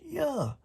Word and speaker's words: Yah: It's an I, and that I makes that Y sound like it does in heaven. The A is silent. When you got two vowels together, when two vowels go walking, the first one does the talking. The A is silent. We know this. We know this is a Greek New Testament, and the I in the IAH is Y. Isaiah, Jeremiah, and so forth. His name is Yah.